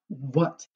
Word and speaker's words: what: of like who except in this word what we don't pronounce the h i'll tell you what